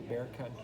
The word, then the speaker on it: Bexar: books and practices through bear county in 19th century by the way that's b x a r pronounced bear um so it says